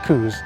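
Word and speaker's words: coo: also point out that in scotland cows are called cous it's not merely a a matter of the accident they literally spell it c-o-o so we're doing coup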